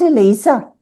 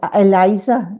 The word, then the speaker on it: Eliza: Not Elisa like Eliza actually. Um I pronounce it Eliza but not Eliza or Elisa. Many people do.